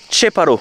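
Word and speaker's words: Qeparo: oui j'ai demandé donc ça s'écrit keparo mais ça se prononce cheparo en albanais mais les gens sont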